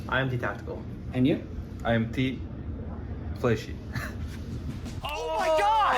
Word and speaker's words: Fleshy: Oh, it's not Space Fleshy, it's IMT Flesh. Flesh, you just pause. That makes sense. Raafaa and Kobe, now I know how to say it. What? So the space is silent?